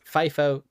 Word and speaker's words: FIFO: specifically a first in, first out, or sometimes pronounced FIFO qeue data structure.